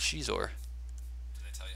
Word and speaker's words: Xizor: It's Xizor. Did they tell you how to pronounce it?